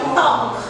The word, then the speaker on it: talk: Ingat talk berarti jangan bacanya talk. Saya sudah bilang ulang-ulang dari awal bahwa kalau ada dua huruf konsonan di dalam satu kata yang satu tidak tidak dibunyikan. Jadi talk begitu bukan talk tapi talk.